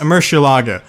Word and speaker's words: Murciélago: video about this card everyone was trying to correct my pronunciation so apparently the Spanish pronunciation was indeed correct as confirmed by many Spanish viewers in my audience anyways a Murcielago it's the Batmobile this